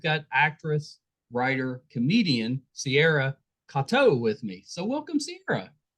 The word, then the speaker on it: Katow: get it right it's a weird one yeah Kato you know I mean the trick is everybody says katel because it is spelled it's spelled Kate yeah yeah that's